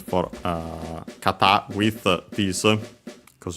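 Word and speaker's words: 方: Kata on its own is accent on the last syllable.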